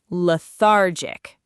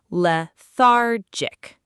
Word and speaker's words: lethargic: Lethargic. Notice the stress is on the middle syllable. Lethargic.